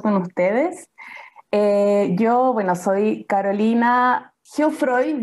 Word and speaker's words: Geoffroy: Yo soy Carolina Geoffroy, yo lo digo así, en realidad es un apellido francés, así que se pronuncia como Geoffroy, algo así.